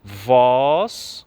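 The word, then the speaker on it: vós: tornastes próximos então é Cuidado com essas duas palavras porque ela só se diferenciam pelo assento e tem diferença na pronúncia voz com acento e voos sem acento então cuidado nessa expressão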